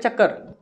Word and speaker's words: चक्कर: अब यहाँ पर आप ध्यान से समझिए, जब इस शब्द को आप उच्चारित करते हो तब इस प्रकार से नहीं करते हो चक्कर, आप इस प्रकार से करते हो चक्कर। जब यहाँ पर जब आप इसका उच्चारण करोगे चा के बाद का, तब वहाँ पर क्या होगा, दो मात्राओं के बराबर समय लगेगा।